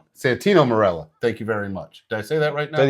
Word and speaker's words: Santino Marella: It's going to be uh Santo Marella. Santino. Santino Marella.